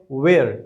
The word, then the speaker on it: where: इसका प्रोनाउंसिएशन है वेयर। यहाँ पे अगेन एच आपका साइलेंट है।